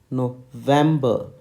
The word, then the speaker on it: November: N for n the phonetic spelling is n o v e m that is Vamp you have to emphasize on them then b e r okay so the letter N in phonetics is pronounced as November November November okay so that's how